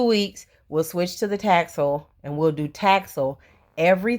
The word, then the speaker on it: Taxol: It's not Toxol, it's Taxol. So I met with Dr.